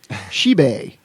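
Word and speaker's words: 十八: Pronounced Shibei is considered a lucky number due to similarity with Shi Fei, which means definitely get rich or to get rich for sure.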